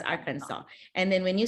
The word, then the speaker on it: Arkansas: to make sure that when you say Arkansas it's an like an s a w it's a silent s in the end so it's Arkansas okay it's Arkansas and then when you